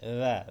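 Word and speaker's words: ر: রা, জাল, জিহ্বার আগাটা উপরে লাগবে, রা, জাল। র, এটা রা হবে না, এটা হলো র, র।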